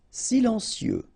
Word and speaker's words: silencieux: Silencieux. Final X not pronounced, okay? This part here will be pronounced like cieux, okay? Then you get silencieux.